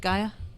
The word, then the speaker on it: Gaia: uh up on Kickstarter quest for Gaia gay Gaia right ji a so I've always pronounced it Gaia a new world has